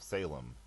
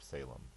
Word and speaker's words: Salem: shalam or shalim but the Greek doesn't really have a sh sound and okay I know